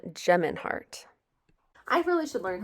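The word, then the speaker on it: Gemeinhart: the honest truth by dan demeinhart it's dan geminhart i really should learn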